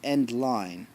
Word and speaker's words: endl: line feed and L the end l pronounced end line command in C++ causes